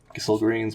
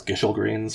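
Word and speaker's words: Gysahl Greens: Gissel Greens, which I always used to pronounce Gishel Greens for some reason.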